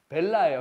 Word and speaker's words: bella: 베이아 뭐예요? 베이아. 베이아래 자꾸. 이거 봐. 왜 자꾸 실수하잖아요. 벨라예요, 벨라.